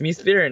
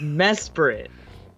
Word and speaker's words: Mesprit: It's me spirit now. How's it spelled? No, me? How it's pronounced. My bad. Spirit. But it's mesprit. Smells like me spirit.